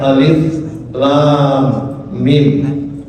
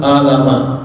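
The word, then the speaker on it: الم: Maka Al-Qur'an datang memberitahu orang-orang Arab bahwa ada yang namanya huruf sehingga kemudian kita membacanya alif lam mim bukan alama.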